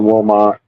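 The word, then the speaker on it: Wilmot: So knew she was born and raised in Wilmont and it's spelled W I L M O T.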